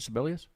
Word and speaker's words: Sibelius: Sibelius?